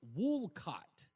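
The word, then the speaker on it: Wolcott: Anyway, um Michael A says, "Re, if you're going to live here, it's pronounced wool cut or wool cut."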